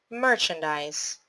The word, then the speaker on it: merchandise: this word instrument instrument merchandise how many syllables in merchandise divide into syllables mer chen dies three syllables the stressed syllable is on mer so how to pronounce this word mer chen dies merchandise unbelievable how many syllables